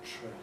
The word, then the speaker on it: train: words like train, and what happens after D in words like drain, because of course what happens in those positions is that you get a fricative. And we don't say brain, we say drain. We don't say terrain, we say train.